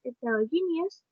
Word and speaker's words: heterogeneous: The next one is heterogeneous, who has 5 syllables, and the stress was in G.